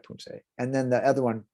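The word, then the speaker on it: 품새: So not really Poomsae, but Poomsae. It sounds like Poomsae.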